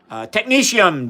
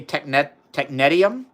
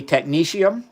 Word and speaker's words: technetium: So the water is going to be slightly technetium, Denny. That's how I pronounce it. I think some people say technetium. I say technetium. That's because that's how one of my inorganic professor in undergrad, he studied technetium for his PhD, and that's how he pronounced it.